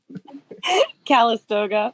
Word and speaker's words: Calistoga: Calistoga, but I liked your flair better, actually.